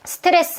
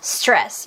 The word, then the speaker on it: stress: 그러면 stress는 스트레스가 아니라 stress 이렇게 1음절로 소리를 내야 된다는 거 아시겠죠? 그쵸?